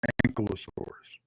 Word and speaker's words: Ankylosaurus: I wish I'll quit mispronouncing the name. It's Ankylosaurus.